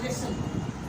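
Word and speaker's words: listen: मैंने वर्ड लिखा ऑफन, मैंने वर्ड लिखा लिसन। अगर आप दोनों में देखो तो ईएन से पहले टी आ रहा है, टी, तीनों जगहों पर टी आपको साइलेंट मिल रहा है।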